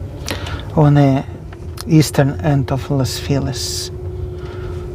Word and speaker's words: Los Feliz: the eastern end of Los Feliz. Would you pronounce it as Spanish pronunciation, Los Feliz? If you were here earlier, would stick to English pronounce. English hate like doing stress on last syllable.